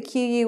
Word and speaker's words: queue: So again, the QU word's taking the K sound, Q, and it's just one syllable, Q.